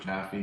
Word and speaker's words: Jaffe: That was done recently in the village of Southampton with a Norman, I always mispronounce it, Jaffe, J-F-E. Jaffe.